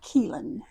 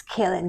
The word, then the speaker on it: Kellan: Not Keelan. It's Kellan.